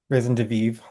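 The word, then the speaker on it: raison de vivre: Will you pronounce it again? Risen de Vive.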